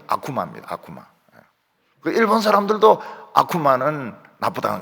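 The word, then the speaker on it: 悪魔: 기자들하고 싸우고 국회에서 싸우고 악마를 일본말로 뭐라고 하는가 하면 아쿠마라고 하면 똑같습니다 똑같은데 발음이 아쿠마입니다 일본 사람들도 아쿠마는 나쁘다는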